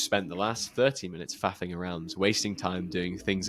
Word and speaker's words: faffing: Like, stop Yeah, faffing faffing around. around. Yeah, It's just so exactly. funny. You gotta say it in a British accent though. How do you say fuffing? Faffing. Faff. Fa. Oh, okay. Faffing.